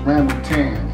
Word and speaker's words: rambutan: Correct pronunciation for the food is Rambutan.